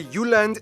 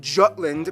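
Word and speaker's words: Jylland: here we go Denmark is made of the uhland not Jutland Peninsula that connects to Germany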